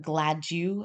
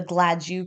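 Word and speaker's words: Gladue: Canada they um actually have something called the glad you factors that's spelled g-l-a-d-i uh e u x and basically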